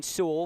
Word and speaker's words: Su: I guess it is Su. We were told that it was the start of the year because we were initially going to pronounce it Su like Pane Su.